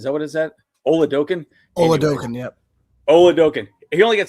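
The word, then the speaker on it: Oladokun: Oladokin, yep.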